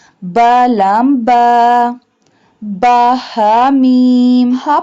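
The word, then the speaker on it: ميم: Ba, ha, mim. Ha pronounced from the bottom part of the throat. Mim. Mim pronounced from the dry part of both lips.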